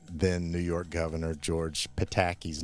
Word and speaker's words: Pataki: poked fun at then New York Governor George Pataki's name um with you know the Indiana accent George Pataki all the time and so in one of